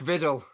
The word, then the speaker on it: Vidal: It's not vicious, is it? It's not. It rhymes with Biddle. Mark Viddle.